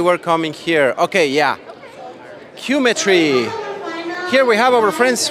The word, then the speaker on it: Qmetry: Qmetry. here we have our friends from Qmetry. Did I pronounce it well? Yeah, that's right, Qmetry.